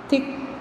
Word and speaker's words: thick: thick C silent, badge D silent, writer W silent, knitted K silent.